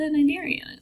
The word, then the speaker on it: Cnidaria: And that's, evolutionarily speaking, that's kind of what a cnidarian is, right? But let's talk more about what makes this group unique. So Phylum Cnidaria, again, that C is silent.